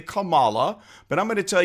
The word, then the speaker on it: Kamala: an Americanized version and some people call her Kamala well that's not the way that it is pronounced from the original that's the Americanized version some people say Kamala but I'm going to